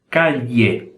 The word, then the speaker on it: calle: Calle, calle. Não chega a ser nem a I, o som, e nem a LH, um misto aí entre os dois, tá? Então, essa palavra se pronuncia calle.